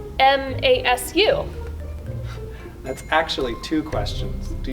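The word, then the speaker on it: ます: what is moss and why is it pronounced moss but spelled m-a-s-u that's actually two questions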